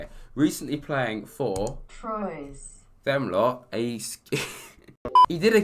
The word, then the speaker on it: Troyes: actually how you say it recently playing four troyes them lot he did a good job as